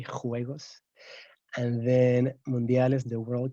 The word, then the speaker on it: juegos: olympic games we say juegos olympics very strong pronunciation of that j okay juegos and then mondiales the